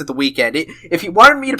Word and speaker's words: The Weeknd: R&B singer the week I I refuse to pronounce it the weekend if he wanted me to pronounce it the weekend he would have spelled it like that but